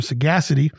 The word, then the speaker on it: sagacity: We're going to show some sagacity on this episode about the Ukraine. Sagacity is the word of the day, 4 syllables, S-A-G-A-C-I-T-Y.